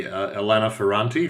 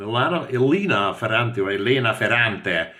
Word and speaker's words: Elena Ferrante: These are Neapolitan novels, and Elena Ferrante, which is probably the correct Italian pronunciation, was named one of the most influential 100 people of Time magazine in 2016 in the world.